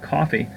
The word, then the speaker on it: Ko-fi: in the description, called Ko-fi. It's not spelled coffee with a C, it's spelled Ko-fi, K-O-F-I.